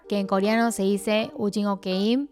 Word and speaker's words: 오징어 게임: Y por último, finalmente, el juego de calamar, que en coreano se dice Ujingo Keim, o si no, Ujingo Nori.